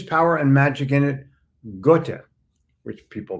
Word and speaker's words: Goethe: Goethe, which people mispronounce Goethe, but it's okay.